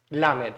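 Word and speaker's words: למד: Que su verbo es justamente Lamed, ¿sí? Se pronuncia igual.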